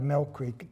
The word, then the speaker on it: Millcreek: Mel Creek but I'm elected out of Mel Creek to say it right but I represent everybody